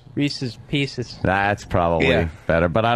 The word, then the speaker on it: Reese's Pieces: You said Reese Pieces. It was Reese's Pieces.